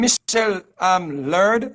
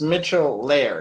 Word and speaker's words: Mitchell Laird: Is the name Michelle Laird, or how do you pronounce the last name? Sure, sure. It's Mitchell Laird.